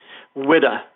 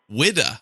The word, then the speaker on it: Whydah: need to know is what is the correct pronunciation of the ship's name widda widda oh okay that's not